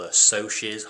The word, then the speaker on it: Socs: type of people called Socs. I called them socks before for some reason, where it's spelled S-O-C-S.